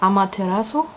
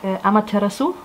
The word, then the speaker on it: Amaterasu: and it is called Amaterasu. Although I think I'm saying it wrong. I think in Japanese it is like Amaterasu. I looked it up how to pronounce it.